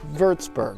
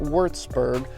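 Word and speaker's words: Würzburg: and that W sound like these new should pronounce like waldenberg or verts Berg not worth sperg birdsburg and here's here's the greatest one that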